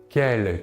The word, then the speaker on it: quel: Nous voyons que la prononciation est la même, par contre, attention à l'orthographe.